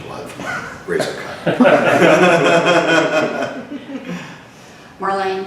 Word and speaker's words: Marlene: Marlene, M-A-R-L-E-N-E, pronounced Marlene.